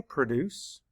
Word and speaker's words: produce: to Circle there and our last word is produce say produce or depending on how you're using it you might say produce map the sounds